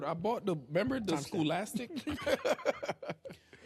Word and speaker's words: Scholastic: I bought the Remember the Scholastic? Remember the the Scholastic where you could buy books in school? Scholastic. What I said? Schoolic.